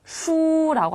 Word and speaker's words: 书: 역시 발음하실 때 끝에 술처럼 들리지 않게 우라고 동그랗게 빼세요. 수라고 합니다.